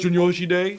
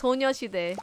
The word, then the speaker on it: 소녀시대: Sunyoshi Day, Girls' Generation? Oh, well, it's 소녀시대. You kind of pronounced it wrong, but okay.